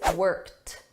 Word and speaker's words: worked: The past simple pronunciation is worked. Notice that T, worked. But when I combine it with worked up, I'm going to link these together and you're going to hear that T in front of up.